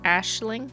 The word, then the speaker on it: Aisling: It's pronounced Ashling.